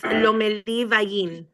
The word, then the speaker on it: Lomeli Vallin: All right, let's call the city of Detroit versus Lamelli v. Valiant. Give me the correct pronunciation of the last name. It's Lomeli Vallin.